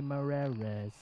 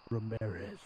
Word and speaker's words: Ramirez: Emily Ramirez, Emily Marrez. You're not even saying it right. Emily Ramirez.